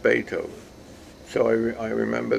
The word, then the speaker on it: Beethoven: to pronounce it and she said no it's pronounced Beethoven so I mean I remember that to this